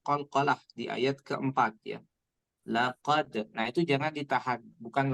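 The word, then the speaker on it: لقد: Jadi nanti ada karena qalqalah itu membal ya, membal itu artinya memantul, maka setiap huruf qalqalah yang dibaca seperti ini. Laqad ada pantulan terdengar. Laqad ya.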